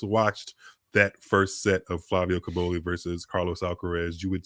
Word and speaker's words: Cobolli: Flavio Cobolli.